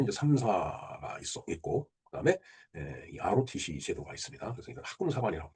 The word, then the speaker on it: ROTC: Rotc. 예. 어, 통상적으로 뭐 RT라고 얘기하는 사람도 있고 그다음에 뭐 R로라고 얘기하는 사람도 있어요. 근데 저는 그 두 발음을 다 멀리 합니다. 명확한 건 ROTC예요.